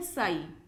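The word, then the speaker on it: ψ: तो उस वेव का एम्पलीट्यूड है साई, साई प्रोनाउंस करते हैं इसे, ठीक है।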